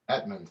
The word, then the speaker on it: Edmond: theresa your surname it's edmund yes edmund okay because it's an o and it sounds like a you and then theresa is